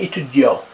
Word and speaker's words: étudiant: Jean est étudiant. You don't pronounce the T.